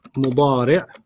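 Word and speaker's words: مضارع: And then the present is mudari'. Mudari'. Mudari'. You don't have to pronounce the tanween, just mudari'.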